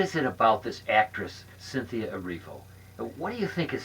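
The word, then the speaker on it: Erivo: been missing every foe I have been mispronouncing at this whole time Cynthia areevo oh my yeah okay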